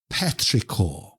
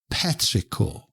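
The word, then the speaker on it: petrichor: the week wonderful word of the week is petricor petricor okay petricor is spelled p e t r i c h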